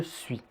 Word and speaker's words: suis: niveau m enfin vous remarquerez que le dernier s 2 suit n'est pas prononcé je suis c'est le cas pour